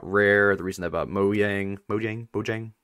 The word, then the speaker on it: Mojang: What if secretly the reason they've been buying all these companies, the reason they bought Rare, the reason they bought Mojang, how do you pronounce it?